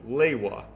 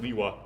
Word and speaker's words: Lewa: That's what suggests to me that you need to kind of consider Roman pronunciation when you pronounce Bionicle names. So I'm kind of somewhat in the camp of Lewa. Maybe that's just to be contrary with LJ, I don't know. But Greg did pronounce it Liwa.